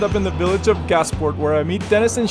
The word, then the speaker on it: Gasport: Yes, Gasport, New York, yeah.